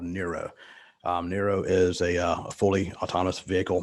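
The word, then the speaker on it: Nuro: Nero is a fully autonomous vehicle manufacturer. And Spell that, N-E-R-O, Nero?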